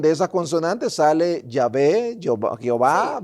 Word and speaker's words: Jehová: Entonces, la tradición le fue asignando una pronunciación, agregando las vocales E y A, hasta que se escuche Jehová.